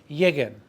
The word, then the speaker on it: lleguen: Llegar, it's not llegan, that's present tense. Put it in the A, opposite vowel, lleguen. If you write it out, it's G U E N because we need to maintain the hard g sound of the verb llegar.